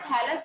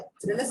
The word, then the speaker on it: thallus: ये बेटा थैलस है, स्पेलिंग लिख देती हूँ मैं यहाँ पे, ये THA होता है, THALLUS, थैलस होता है, थ्रेलस नहीं होता।